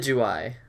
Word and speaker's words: Decidueye: How do you pronounce it? Decidueye.